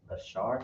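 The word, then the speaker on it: אשר: have actually in English how might we pronounce this in Hebrew though if we have Asher in English how is actually going to be pronounced in Hebrew go ahead a shark oh give that brother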